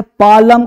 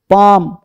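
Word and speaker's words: palm: अब देखिए है ना ये है पालम कालम हालप कालफ नहीं ये सब क्या है ये सब में एल चुप पाम काम हाफ काफ है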